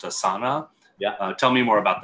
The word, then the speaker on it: Asana: I think the company's name is pronounced Asana.